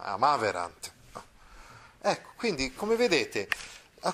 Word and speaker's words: amaverant: nel più che perfetto la terza persona plurale è sdrucciola, cioè l'accento va sulla terzultima, amaverant.